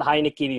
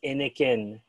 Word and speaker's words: Heineken: It's not Heineken, it's Inikin, right?